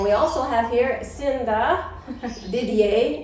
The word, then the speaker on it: Didier: And we also have here Cinda Didier. Is that how you pronounce it? And it's French, it's like that, right? Yeah, it is. Didier.